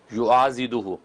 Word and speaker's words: یعاضدہ: سے بعض دفعہ آ جاتے ہیں، لیکن اس تلفظ کو جو ناظرین سمجھ لیں، یا قدوس الطاہر من کل سوء فلا شیء یعاضدہ، یہ ضاد ہے، ضاد، فلا شیء یعاضدہ من